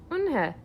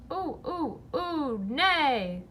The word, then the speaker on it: Eunhye: "Eunhye," said Eunhye. "Eunhye?" the girl asked, scrunching up her face. Ooh, nay, some kids chanted. No, Eunhye corrected.